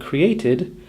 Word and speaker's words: created: So, we can imagine needed as being spelt N-E-E-D-I-D and created as being spelt C-R-E-E-A-Y-T-I-D.